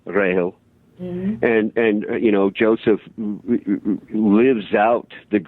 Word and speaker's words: Rachel: Her very name is pronounced Grail, Rahel.